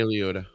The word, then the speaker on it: Liotta: I don't know how to pronounce that. Ray Liotta.